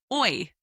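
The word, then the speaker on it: hoy: for today, which is oi. Oi, spelled h o y. Oi. Remember that the h in Spanish is silent. So, we pronounce it like oi. O y. That's right. Instead of hoi, we say oi.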